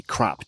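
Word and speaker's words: Krapp: Well, it's like, when you look at it in English and it looks like it's pronounced crap.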